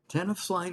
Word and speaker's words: Tenafly: Tenafly, is that how you pronounce that, David? Yep, that's right. Tenafly, New Jersey.